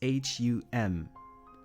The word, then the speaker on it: hum: It's H-U-M. French people will say to I was trying my hardest to pronounce the H, like to hum.